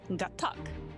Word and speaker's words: Gatac: No, it's Gatack.